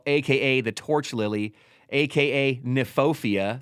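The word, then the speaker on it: Kniphofia: In there, we have a plant called red hot poker, aka the torch lily, aka nefopia, spelled with a K.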